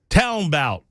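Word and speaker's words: talmbout: write it down okay Town bout Town bout I'll spell it t-a-l-m-b-o-u-t Town bow that sounds like uh tell them about it tell them about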